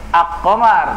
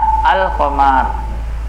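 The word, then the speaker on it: القمر: Membacanya al-qamar, tidak dibaca ak-qamar, tapi bacanya al. Nah, gitu. Makanya dia dikatakan qamariyah karena membacanya seperti membaca al-qamar.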